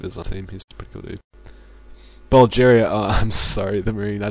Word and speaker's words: Bulgaria: Bulgaria oh I'm sorry it's not Bulgaria it's Bulgaria was I pr mispronouncing that that's bad um